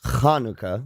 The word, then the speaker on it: Hanukkah: is it chica no it's Hanukah just spell different because it's it's kanuka that's the kanuka is the uh Hebrew word yeah and the is spelled there's a there's a there's a letter I there's a letter for for the sound yeah and there's a letter for the sound H yeah uh Hey and hey the letter hey is the H sound yeah and the letter is CH but because in Hebrew